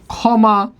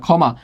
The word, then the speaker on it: ক্ষমা: যেমন আমরা যদি বলি ক্ষমা, ক্ষমা, উচ্চারণটা কি হয়? খ ময়কার মা, ক্ষমা।